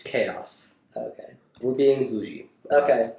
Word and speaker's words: Qaos: But it's chaos spelled with a Q. Q-A-O-S. Interesting. Wouldn't that be I pronounced think that's just him Quaos? spelling chaos. Oh, yeah. Wouldn't that be just Quaos? It's chaos.